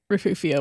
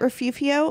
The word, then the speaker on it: Refugio: heard it calling it refuvio but then like it started bothering me because it doesn't make sense why would you pronounce that f as an f and then the G is an F it's just tradition like